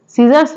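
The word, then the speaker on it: scissors: है वर्ड है सीजर्स सीजर्स में भी सी साइलेंट है नेक्स्ट वर्ड है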